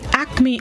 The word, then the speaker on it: acme: The word of the day this morning, A-C-M-E, pronounced acme. It is a noun which means the highest point, summit, or peak.